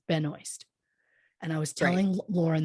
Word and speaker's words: Benoist: me wants to say her last name is Benoit. Yeah. But I went and watched YouTube videos of her saying her name so I could pronounce it the way she wants it pronounced. And she says Benoist.